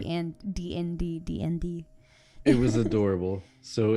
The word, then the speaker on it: DND: then we realized that she was pronouncing it as a word and not the phonetics and DND DND it was adorable